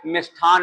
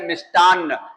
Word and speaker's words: मिष्टान्न: और जैसे हम हर मिठाई की दुकान पे मिष्ठान मिष्ठान नहीं, वो शब्द है मिष्टान्न।